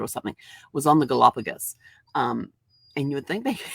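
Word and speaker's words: Galápagos: He goes, it's Galapagos, not Galapagos. And I'm like thinking, oh crap, here I am supposed to be the travel professional, and I'm pronouncing the Galapagos as Galapagos.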